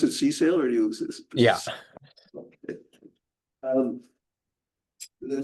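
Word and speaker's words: CSAIL: You pronounce it C-Sail or you?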